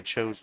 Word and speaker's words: Cho: Che-Yu Cho, yep. Yep. I think people naturally say Chow, but it is Cho. I think it has something to do with the U.